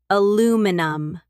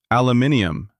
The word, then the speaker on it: aluminum: And aluminum, American English, stress on the second syllable, aluminum. In British English, aluminium, with an extra I and four syllables.